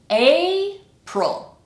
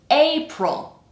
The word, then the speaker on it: April: And then our second syllable, it's the weak syllable. So it sounds like we have basically no vowel sound at all.